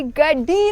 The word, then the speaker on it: Gadeni: एक बहुत ही सुंदर रास्ता है, और इसे गड्डेनी ने भी देखा था। इसका उच्चारण क्या होगा , देखो? गड्डेनी, गड्डेनी। गड्डेनी, गड्डेनी। नहीं, गैडेनी नहीं, गैडेनी।